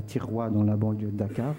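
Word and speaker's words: Thiaroye: Celle à Tiroua. À Tiroua. Oui, c'est dans la banlieue de Dakar. Alors ça s'écrit T-H-I-R-O-Y-E.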